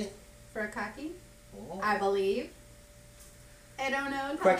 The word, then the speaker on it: furikake: Furikake.